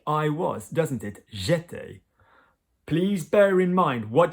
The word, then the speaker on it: étais: J'étais, J apostrophe E acute T-A-I-S, or tu étais, il était, is a different spelling, and that is the verb in the imperfect. But it sounds largely the same, été.